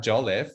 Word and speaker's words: Jolliffe: His name is Sasha Jolliffe. Did I pronounce that right?